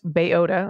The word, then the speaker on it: Belota: Me and Belota, pronounced Bayota, okay, good to know.